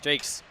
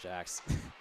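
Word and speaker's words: Jaques: That is Jakes, not Jax. And not Jacques. Not Jacques, not Jax, but Jakes. It is spelled J-A-Q-U-E-S, and Sophie Jakes is from Toronto, Ontario, 5'8" graduate student.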